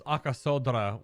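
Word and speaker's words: Arkasodara: reverence and respect yeah you gotta pronounce akasodra with with that that Dr accent otherwise it's just such a flat word and it's definitely not spoken exactly phonetically as it's spelled totally a tough one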